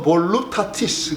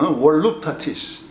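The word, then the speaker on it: voluptatis: 자, 그런 뜻으로 에덴 동산을 이해하시면은 라틴어 성서에서 이 에덴 동산을 어떻게 번역했는가를 찾아보면 호르투스 볼루타티스 그래요. V 발음을 안 하니까 옛날 말에는 월루타티스.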